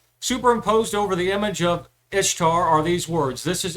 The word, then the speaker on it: Ishtar: This Ishtar pronounced Easter. Remember, I told you the correct pronunciation was Easter.